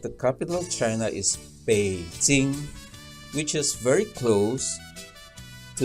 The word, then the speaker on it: Beijing: changed but it hasn't in fact the Mandarin pronunciation of the capital of China is Beijing which is very close to the opinion and